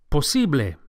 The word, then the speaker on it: posible: say possible in spanish the word is posible the second syllable the e is accentuated posible and the final a sound posible is a pure vowel not a don't say posible but posible impossible in spanish is